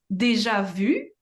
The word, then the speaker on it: déjà vu: know um more about deja vu because it's a French word it's technically pronounced Deja Vu and um what is